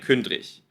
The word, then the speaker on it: Kündrig: ausgesprochen wird, ja, also ihr hört hier den Namen Kündrik mit G geschrieben. Und ihr hört aber ein Kündrich.